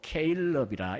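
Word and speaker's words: Caleb: 갈렙을 영어식으로 케일럽이라 이렇게 발음을 합니다.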